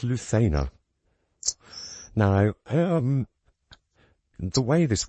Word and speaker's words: Lucena: RZ the Lua and so it should be pronounced Lua but um in England a lot of the time it's pronounced Lucina position so um those of you who've heard